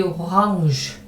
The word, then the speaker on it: Orange: 그 다음에 die Orange, 이거는 외래어라서요. 게르만 계통이 아니고 로만 계통의 외래어라서요. Orange, 이렇게 우리가 잘 사용하지 않는 독일어에서는 좀 낯선 그런 발음이 들어갑니다. 그렇게 그냥 오랑캐라고만 하지 마세요. 이 R 발음도 게르만어랑은 좀 다르고 그 다음에 G 발음도 영어랑도 다르고 독일어랑도 달라요. 영어도 게르만어긴 하지만 die Orange 이 정도로 해두시면 되겠습니다.